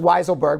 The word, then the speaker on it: Weisselberg: weasel a weaselberg weaselberg but i think it's pronounced weiselberg but we'll call him